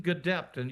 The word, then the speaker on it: Gedeptin: We've successfully completed phase 1 and a phase 1/2 trial, but this will be a phase 2 trial combining Gedeptin, you did pronounce it correctly, in combination with Keytruda, which is known as an immune checkpoint inhibitor.